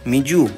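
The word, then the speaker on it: みず: আমি উচ্চারণটা আবারও বলছি, মিজু, মিজু মানে পানি।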